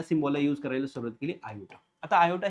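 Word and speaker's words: iota: युज करायला सुरुवात केली याचं नाव आहे आयोटा आयोटा ओके याचं प्रोनन्सशन ठीक आहे तर पहा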